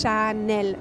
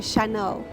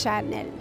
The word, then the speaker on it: Chanel: So the pronunciation is Chanel. It's really easy. In English, many people say Chanel, but it's Chanel.